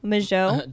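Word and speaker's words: Mageau: Majot.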